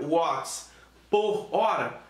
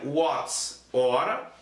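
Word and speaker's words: watt-hora: E frequentemente as provas de vestibular trabalham com a possibilidade, eu posso pronunciar watts por hora? Negativo. Ou a gente pronuncia watts hora, ou a gente pronuncia watts vezes horas.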